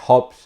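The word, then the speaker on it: Hobbs: a james stuart y aunque se pronuncia de forma muy parecida este hop es con una aspirada o bebe ese se parece al santo job con jota o be pero seguramente la paciencia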